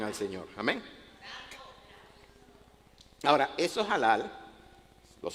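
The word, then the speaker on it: הלל: hebrea que es halal, o en castellano diríamos halal, pero como la H no es muda en el hebreo, se pronuncia halal y significa alabar, exaltar, celebrar.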